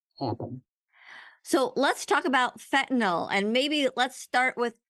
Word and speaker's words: fentanyl: So let's talk about fentanyl, and maybe let's start with, how do you pronounce it right?